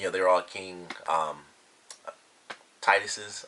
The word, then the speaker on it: Taijitu: they're all king um Titus's i guess is how you say it you know sort of an H sounding J but it was pretty cool